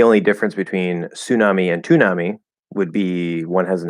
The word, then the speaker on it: Toonami: It was called Toonami. And that's exactly how we would pronounce it. It's like tsunami, but with a T instead of an S. The thing about the word tsunami, in Japanese, it's su, su, su.